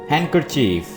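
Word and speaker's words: handkerchief: यहां पे आपने डी को प्रोनाउंस नहीं करना है, आप इस वर्ड को पढ़ेंगे हैंडकचीफ, रुमाल।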